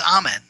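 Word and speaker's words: Amun: after or contemporaneous with referred to amen as amen except Ethiopia in Ethiopia they pronounced it Ean well around the mid 1980s there was a re-evaluation done of the Egyptian hieroglyphic language and the scholars who were involved that in their Infinite Wisdom decided that the pronun correct pronunciation was Eman with that with that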